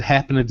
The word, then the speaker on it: happened: the city yes good so when you see when you see that word happened that ending is gonna be more like this okay happened like a